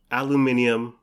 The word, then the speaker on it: aluminium: burrito is is this this aluminium that's how the British say aluminum uh cylinder and they